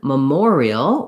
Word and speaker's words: memorial: And while the or said an or nothing here in memory, in memorial, we have a clear or vowel because the second syllable is stressed.